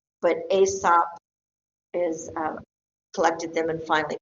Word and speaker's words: Aesop: um supposedly a person named aesop and you could say esop i don't go crazy on that pronunciation but aesop has collected them and